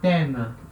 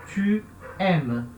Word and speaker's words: tu aimes: Não vai acontecer a queda da letra U, tá? Não vai ficar t'aimes, tá? Não vai cair o U, tá? Vai continuar tu aimes, tá?